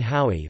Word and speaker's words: Haüy: Valentin Haüy, pronounced I, the 13th of November